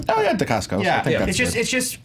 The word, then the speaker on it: Dacascos: Oh yeah, Dacascos.